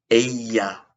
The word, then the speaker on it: ella: She is would be ella es. E-L-L-A. The double L is pronounced like a Y.